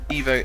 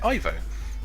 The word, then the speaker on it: Ivo: a lot of people prefer to pronounce it Evo honestly that's that totally up to you really Evo to me sounds more like evil which is appropriate also technically Evo it's the correct pronunciation in the same way that you would